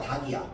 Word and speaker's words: 닭: 자, 얘는 발음이 달이야 닭이야? 전자 부자. 달, 닭. 후자지. 리을 발음 안 하고 기억이 발음됩니다. 기억이 원칙이야.